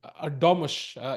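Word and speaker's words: Erdoğmuş: That is, as somebody pointed out, Erdogmus is the correct pronunciation.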